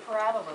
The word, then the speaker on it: parabola: and that's what your Parabola looks like Parabola if you put your accent on the wrong salable you'll say Parabola Parabola it's a parabola all right so there's